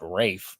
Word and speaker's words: Ralph: It's I guess it's pronounced Rafe, but Ralph Fiennes.